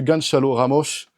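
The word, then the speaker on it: Gonçalo Ramos: que le flocage de Ganchal Ramosche. Là je l'ai dit à la portugaise, c'est comme ça qu'il faut le prononcer.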